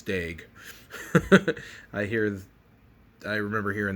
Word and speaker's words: Daigle: out of alexander daig it's not daigle it's dag i hear i remember